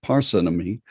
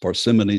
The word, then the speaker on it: parsimony: complex question is called the law of parsinomi or sometimes pronounced parsimony sometimes parsimony the simplest answer is